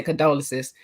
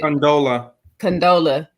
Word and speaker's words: Condola: her name right because I want to say condolences. What is it? Condola.